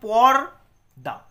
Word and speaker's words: পর্দা: টা উচ্চারণ হচ্ছে এখানে পর দা পর দা তাহলে র টা কিন্তু দ এর আগে উচ্চারণ হচ্ছে পর এই র উচ্চারণ